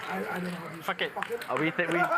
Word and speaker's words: Phuket: Oh, that's how you pronounce it. Phuket. I don't know. Fuck it.